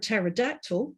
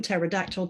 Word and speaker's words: pterodactyl: At the beginning of this word pterodactyl, we don't pronounce the p, right?